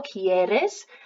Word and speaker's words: quieres: So you can tell there's a pronunciation difference because the ones with the IE are a bit more like a key sound at the beginning, quiero, quieres, and without the I it's a que kind of sound, so queremos,